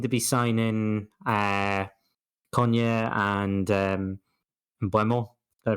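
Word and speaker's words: Mbeumo: I know things are a bit tight, but we seem to be signing Konya and Buemo. Did I pronounce it And right? Boomo.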